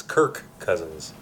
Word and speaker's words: Kirk Cousins: Matt Oh her cousin Kurt's cousins yeah it's kirk cousins oh yeah Kirk Hammett yeah why what's going